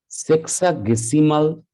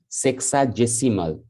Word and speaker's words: sexagesimal: The first one is called the sexagesimal or sexagesimal system. Both are pronounced in the same manner, sexagesimal or sexagesimal.